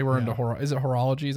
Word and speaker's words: horology: i wouldn't say we're into horror is it horology is how you say it yeah um we're